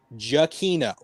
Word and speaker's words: Giacchino: It is pronounced Giacchino. That's from his fucking Twitter. That's how you pronounce his last name.